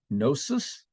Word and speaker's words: gnosis: Ephesus as well gnosticism comes from the Greek word gnosis G and osis is how it's spelled gnosis just simply means knowledge